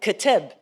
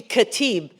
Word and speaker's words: Khatib: You know, the way it's spelled looks like Khatib. It's supposed to be Khatib.